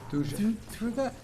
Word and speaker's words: Thuja: How do you pronounce that? Thuja. Thuja?